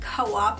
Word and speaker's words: COOP: I will also leave co-op's website in the description box so you can get all the specifics so if you are unfamiliar with Co-op is pronounced Co-op not Coupe I literally was saying